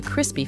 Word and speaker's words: crispy: when you bite into crispy food you hear a loud crunch we stress the word on the first syllable crispy four orders of